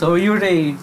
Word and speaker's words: Yūrei: Pero ang tama talagang pronunciation niya, Yūrei.